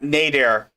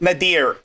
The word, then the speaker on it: Nadir: you can see that nader nader is nadir sorry i keep mispronouncing that name you can tell nadir